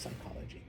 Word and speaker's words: psychology: If all of those English words that have a P and you don't pronounce it, those are all Greek. So like psychology. I know it's just psychology.